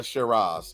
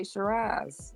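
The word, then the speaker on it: Syrah: yeah okay i r a z right the shiras yep my bad PD so it's a blend say shiras I said Shir how you sp how do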